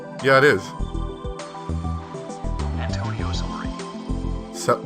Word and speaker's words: Salieri: Antonio Salieri. No, not celery. Antonio Salieri. That's how you say it.